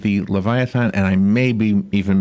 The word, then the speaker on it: Leviathan: so tell me first of all am i pronouncing it right it's right Leviathan and what what the name means it's it's